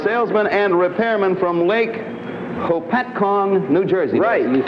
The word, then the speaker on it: Hopatcong: Frank Smith a Salesman and repairman from Lake Hopatcong New Jersey you said it right what uh